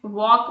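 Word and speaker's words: walk: वॉक में हम एल का जो यूज़ है वो नहीं करते। हम टाइप के उसको वॉक कहते हैं।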